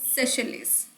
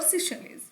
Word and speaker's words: Seychelles: sixth country would be Seychelles, okay, or Seychelles. You can pronounce it in both the ways, Seychelles.